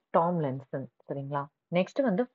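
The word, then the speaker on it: Tomlinson: ரே டாம்ஸ்லென்சன். ரே டாம்ஸ்லென்சன். ஓகேங்களா? நெக்ஸ்ட் வந்து சாரி தப்பா ப்ரொனவுன்ஸ் பண்ணிட்டேன். ரே டாம்லின்சன்.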